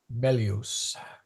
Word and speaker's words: melius: I may be throwing in a long, I think I just put in an extra long. Yeah, I did. Yeah, it's short, isn't it? Yeah. Sorry. That should be pronounced Melius, shorty.